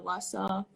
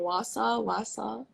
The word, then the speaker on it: Wausau: on youtube on the wahsaw law saw i feel like i'm pronouncing this wrong wasa oh you're right wasa wasa okay just so i don't keep butchering it awesome wausau um so